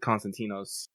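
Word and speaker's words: Konstantinos: his name went spelled constantinos in the Ian localizations because that is how we and the helenic speaking word would spell and pronounce it just like he would be called in the time period he lived in the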